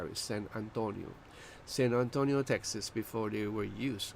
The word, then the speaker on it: San Antonio: Let me pronounce it the right way. San Antonio, Texas, before they were used.